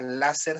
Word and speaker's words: láser: Vean cosa curiosa, láser se quedó en español con la pronunciación en inglés, se quedó como una palabra grave.